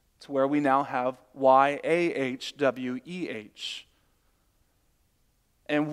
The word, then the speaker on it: Yahweh: where we now have Y-A-H-W-E-H. And we would usually pronounce that as Yahweh, but that's really just an educated guess. No one really knows how to say it.